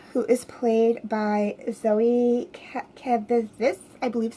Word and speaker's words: Kravitz: Lucas Till, Angel, who is played by Zoe Kravitz, I believe is how you say her last name.